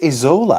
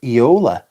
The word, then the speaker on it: Isola: I don't think it's Isola. I think it is Eola. I don't think the S is pronounced. I might be wrong.